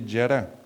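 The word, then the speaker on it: χαρά: Se escribe con J, pero se dice yará.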